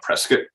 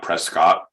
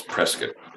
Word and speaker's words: Prescott: and to all those listeners out there it's pronounced prescott it's not prescott even it's spelled that way if you're a local it's prescott just like melbourne it's not melbourne it's smelt